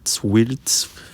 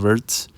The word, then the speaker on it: Wirtz: As you guys see right here, one of the hottest ones, Wirtz, however they said Wirtz. I pronounced with the V.